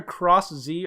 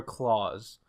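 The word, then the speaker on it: Cross-Z: new forms name like official name it's either cross Z or Klaus cross Z is I think the official translation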